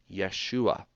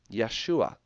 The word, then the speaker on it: Yeshua: seen valve ein and the way that you pronounce that is Yeshua that's it Yeshua all right so Yeshua